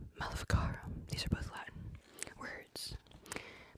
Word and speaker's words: Maleficarum: I never pronounced the second word correctly. Maleficarum.